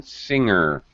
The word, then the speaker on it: singer: All right, finger, yeah, you hear it, but you do not in singer. Singer, no G, even though these words are very similar.